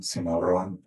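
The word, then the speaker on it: Cimarron: My mother was is was Martinez, Dietress Martinez, northern New Mexico, Simaron, Simaron, did say it correctly.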